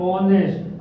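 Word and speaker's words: honest: उसके बाद ऑनेस्ट, आप यहाँ पे एन का यूज करेंगे। क्यों? क्योंकि एच जो है, ये जो एच है ये साइलेंट है। सिर्फ ऑनेस्ट, ओनेस्ट यानी ये ओ की साउंड दे रहा, ऑनेस्ट यानी वावेल का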